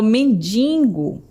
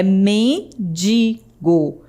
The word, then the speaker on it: mendigo: Muitas pessoas falam mendingo, como se tivesse um ní depois do do i, né? Mas não tem esse N, é mendigo.